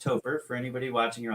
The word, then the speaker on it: Topher: But it is pronounced Topher. For anybody watching, you're like, how do you say that guy's name? Topher.